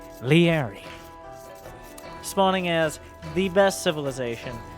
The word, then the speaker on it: Liereyy: is none other than the easily pronounced and absolutely no question this is how you pronounce it leery spawning as the best